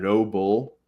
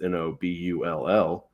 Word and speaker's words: Nobull: The brand Noble, they say it pretty fast, so it sounds like Noble, Noble, but it's Nobull.